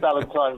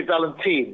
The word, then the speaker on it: Valentine: But you're already ahead of the game because you pronounced my name correctly. Some people get it wrong. You said Valentine, which is right. Some people say Valentine, which is wrong.